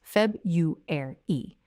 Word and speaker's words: February: Okay, so there are actually 2 acceptable pronunciations of this word. In English, the more formal, careful pronunciation is Feb-ru-er-e. 4 syllables. Feb-ru-er-e. Feb-ru-er-e. But in everyday speech, most native speakers use a simplified version, which is Feb-u-er-e. They change that R-u to a Y-u sound, Feb-u-er-e. Both are acceptable, but the version many learners use, which is Feb-ru-e with only 3 syllables and the 4th syllable completely dropped, is less standard.